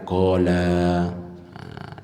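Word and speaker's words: قال: Quraib, keduanya ini mengatakan qala. Jadi la-nya itu agak lama sedikit bacanya.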